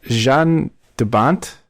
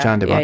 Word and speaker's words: Jan de Bont: The director is Jean de Bont. It's French. He's actually Dutch, I think. Oh, sorry. That sounded French. Yeah, it's Jan. Dawn, maybe. Oh, that's different. Yeah. John de Bont. Yeah. So I'm mispronouncing his name horribly, but he was born October